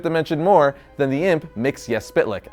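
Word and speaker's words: Mxyzptlk: more than the imp mix yes spit lick as that's where he's from and yes that is the proper pronunciation of his name don't believe me here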